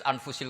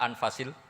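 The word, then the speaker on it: أنفس: Di sini ditulis anfusil kutub. Selalu saya baca anfasil kutub karena maknanya kitab terbaik. Kalau kitab terbaik bacanya bukan anfus tapi apa? Anfas.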